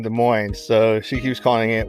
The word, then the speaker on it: Des Moines: keeps calling it what desmon desmon desmon I don't know what they teach in geography school anymore class geography class it's the mo the S is silent it's French the mo it's French